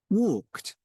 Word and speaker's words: walked: Walked, asked, rented, Which one sounds different? What do you think? Rented. Mhm. Rented. Because all of them asked, walked is like a T, right?